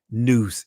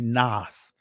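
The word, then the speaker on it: נס: In the Israelis, it's pronounced noose. In the ancient Hebrew, it will be Nas. Nas.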